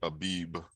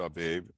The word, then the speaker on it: Abib: that I have highlighted everyone's pronouncing it Habib right we pronounce it our babe and it simply means